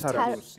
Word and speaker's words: Tarus: It's pronounced Tarus.